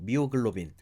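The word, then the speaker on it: myoglobin: 마이오글로빈. 그래서 당연히 산소 하면은 굉장히 친화력 있게 여러분들이 딱 알아내셔야 하는 단어 마이오글로빈. 그죠? 또는 뭐 미오글로빈 이렇게 발음을 하기도 하죠.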